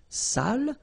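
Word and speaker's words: sale: So if you don't put the accent, it means dirty and then you pronounce it sal.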